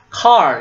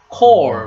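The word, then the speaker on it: כל: It is not car. It is, this one is core, which means or, every, or.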